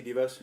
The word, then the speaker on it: DeVos: I did find a couple that say, especially when, how do you pronounce her name? Devos? Betsy DeVos?